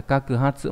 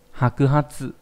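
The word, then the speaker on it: 白髪: này bị sai nhá, không phải là kakuhatsu mà là hakuhatsu.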